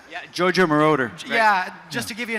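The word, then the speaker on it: Giorgio Moroder: to know who Mar is that who you pronounce his name yeah JoJo maroder yeah just to give you an idea he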